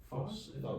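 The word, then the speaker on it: φῶς: Phos. Phos. That's an omega, so it's gonna make that long O sound.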